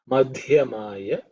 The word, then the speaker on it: Madhyamaya: In terms of pronunciation, you need to pay attention to the mad, which is the fourth letter in the Varga. So it has to be aspirated. Madhyamaya Chapa Galbhaya Ilbha.